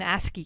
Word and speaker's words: ASCII: what we call the ASCII code that's pronounced ascii ascii for american standard for